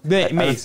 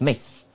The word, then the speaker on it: Mace: By the way, I think I mispronounced it. It's Mace, right? Mace, yes. I was saying more of a S instead of a Z, but it's Mace.